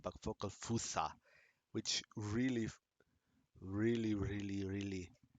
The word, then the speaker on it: Focal Fossa: yeah I heard it somewhere it's actually not focus awesome but focus fossa which really really really really may be double